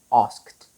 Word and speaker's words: asked: Ask, asked, asked. T ድምፅ ነው ያለው። T ድምፅ ነው ያለው። The ed ending is changed into the t sound.